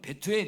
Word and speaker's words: 베투엘: 베투엘 의 원래 발음 은 베스엘 입니다 .